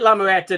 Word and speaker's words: La Muerta: So please, for all you she completists out there, even if you don't like She, get La Muerta #1.